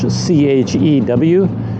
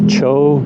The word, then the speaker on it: Chew: It's spelled in English C-H-E-W, Chew Jetty. But that sounds kind of odd to my ears, so maybe it's Cho Jetty, something like that.